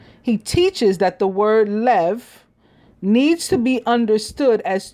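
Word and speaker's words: לב: In the Hebrew, the word for heart is lev, L-E-V, which is spelled Lamed Bet, L-A-M-E-D, Rabbi Abraham Abulafia, in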